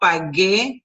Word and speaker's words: pagué: Instead, we do this, which is that G-U-E sounds G, with the accent mark, makes it the strongest syllable. So yo pagué, tú pagaste, él pagó, pagamos, pagasteis, and pagaron.